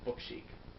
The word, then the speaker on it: Book Chic: ahead and just do book chic, and that is the way to pronounce it. So there's no need for you to mispronounce it at all now that I've said it.